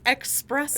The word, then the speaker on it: espresso: I've always said espresso do you think that it's e ex there's no X you knew that it was spelled e s r but you thought that there was an X sound in there we we